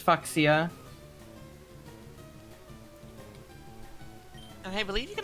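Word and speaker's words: Fuchsia: Yeah, which is always the way that I read it to myself to remember how it's spelled. It's Foxia.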